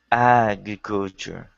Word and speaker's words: agriculture: stress on the first agriculture it's better I'm still hearing I'm still hearing too much stress on the culture part forget about culture it's on the eye that's where it goes AG agriculture that's it very good that's